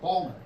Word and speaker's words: Baltimore: my grandma was like, it's not Baltimore, it's Balmer, right? She's old school. It's Balmer, hon, South Baltimore. And she would try to correct me, that's not how you say it. I'm like, Grandma, that's how you say it. She's like, there's no D in Baltimore.